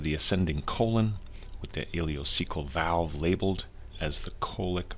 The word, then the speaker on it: ileocecal: heard about the ileocecal valve but it is pronounced ileocecal okay and it is a sphincter muscle that